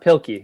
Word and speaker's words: Pilkey: dave uh oh i how do we uh pronounce his last death pilky yeah thank you i used to read him